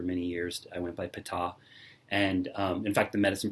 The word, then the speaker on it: Ptah: pronounced it PTAH, and they said no, the emphasis is on the second syllable. It's PTAH, it's not Peta or Peta, it's PTAH.